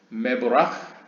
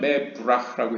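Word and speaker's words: מְבֹרָךְ: 저도 이게 잘 이해가 안 가는데 푸알 형태면 메브라흐라고 해야 되는데 모르겠습니다. 이거 약간 동유럽식의 발음인 것 같습니다. 전번에 그 호크마도 하크마라고 표현했죠. 그러니까 이게 약간 옛날 약간 동유럽권의 아슈케나즘식의 발음인 것 같은데요. 읽는 법인 것 같은데 저는 이제 메브라흐라고 읽겠습니다.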